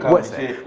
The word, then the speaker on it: Xoese: And the X is silent. Okay. Wese.